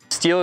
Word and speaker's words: STIHL: expert here at hunka Steele is pronounced steel and products are made